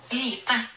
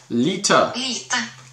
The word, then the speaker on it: Lite: Also, Skewer Lite, now I'm pronouncing light wrong, L-I-T-E. The Norwegian pronunciation is different than light, I believe. But light, let me look that up. I'll play the pronunciation. Here we go. Lita. Lita. Lita. There we go. That's how you pronounce it in Norwegian.